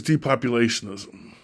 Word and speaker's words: depopulationism: it so that is depopulationism d-pop you leg Sean is um six syllables I am a